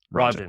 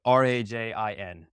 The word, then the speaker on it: Rajan: Like it sounds like Rajin. Okay. Rajan. Awesome. So joining us today is former Marine Corps and now serial entrepreneur, Rajan. I said it wrong again. You sure did. R-A-J-I, Rajan. Rajan. Like R-A, like Rajan. Raj in. Raj in.